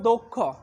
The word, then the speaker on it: দক্ষ: দক্ষ এর উচ্চারণ হবে দক্ষ, দক্ষ এর উচ্চারণ হবে দক্ষ।